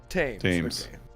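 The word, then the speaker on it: Thames: can die for tames tames river is how you saying tames yeah he can die for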